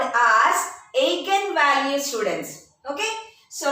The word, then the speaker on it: eigen: are given by the specific value called as a can value students okay so right on off any physical property are given by agent values e i g e n eigen value we represent it by a i